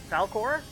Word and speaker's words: Falcore: Fal-CORE?